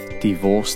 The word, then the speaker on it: divorce: Smith got married they broke up what's another word for breakup divorce where is the stress in divorce the stress is on the old divorce Miss Johnson and mr.